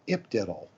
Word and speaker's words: ipDTL: It's called IPDiddle. Or at least that's how you pronounce it.